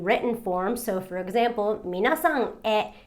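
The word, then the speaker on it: みなさんへ: So for example, minasan e is written with a he, but it's pronounced e. Minasan e.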